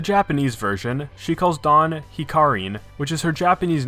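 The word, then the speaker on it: ヒカリン: version she calls don hikarin which is her japanese name hikari only with an n sound at the end in japanese adding an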